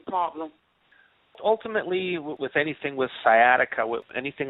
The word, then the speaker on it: sciatica: Now, I did watch your video on how you healed a man with, if I'm saying it correctly, sciatica.